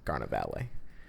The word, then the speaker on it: carnevale: So it's like farewell to meat, and it's basically like traditionally in like medieval times, carnevale, that's how you say it in New York. Italian is carnevale.